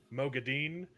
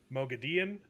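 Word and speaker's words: Moghedien: one of the Forsaken, Kate Redding and Michael Kramer, they each have like 3 different ways to pronounce it. I believe it's Mogideon. It's Mogideon, Mogadine, Mogadian, and like the and it's so inconsistent.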